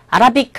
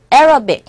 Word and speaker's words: Arabic: 아랍어를 영어로 발음하실 때도 아라빅 하지 마시고 Arabic 이렇게 발음해 주시면 되겠네요.